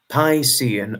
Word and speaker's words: Piscean: It would be pronounced Piscean.